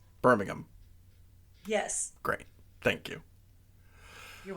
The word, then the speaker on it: Birmingham: Okay, so what is the English pronunciation? Birmingham.